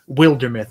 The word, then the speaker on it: Wildermyth: a few years ago they claim that it is pronounced wildermoth like Wilderness Wilder wild wild wild